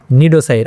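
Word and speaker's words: cnidocyte: নিডোসাইট। আচ্ছা আমি এখানে নিডোসাইট বললাম কেন? সি নিডোসাইট বললাম না কেন? বা সি নিডোসাইট বললাম না কেন? কারণ এইখানে সি এর উচ্চারণটা সাইলেন্ট থাকবে।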